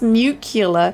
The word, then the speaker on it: nuclear: Wait, it's pronounced nuclear.